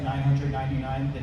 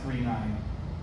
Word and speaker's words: 999: It's pronounced, I know it looks like 999, it's pronounced 39.